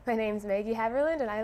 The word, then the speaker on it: Haverland: more than hi my name is is maggie hamerlin um um okay now what did you say my name's maggie haverland and i like to play tennis all right